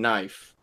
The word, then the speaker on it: knife: where do you say the K in knife is silent but used to do